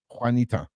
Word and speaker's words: Juanita: just ask can I am I saying this right Wanita is that how you pronounce on the screen how long it took me to figure out that's how to say Juanita before I realized it was Juanita do you know how